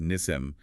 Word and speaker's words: Nissim: is Nissim which is pronounced Nissim with the emphasis on the first syllable okay good to know